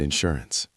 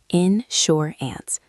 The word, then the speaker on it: insurance: Make sure you pronounce that clearly. Insure. Ants. Stress the second syllable.